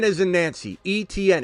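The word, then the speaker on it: Etienne: Etn. If you say those letters in a row, that's his name.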